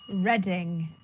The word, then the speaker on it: Reading: last one of this section how do you pronounce this town reading all right any other option here we go it's reading reading and reading festival was the first festival